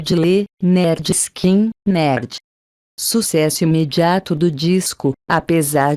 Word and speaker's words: Lynyrd Skynyrd: O disco de estreia iniciam a gravação de pronúncia de Le Nerd Skin, nerd em português, pronunciado Le Nerd Skin, nerd, seu disco de estreia, no estúdio 1 de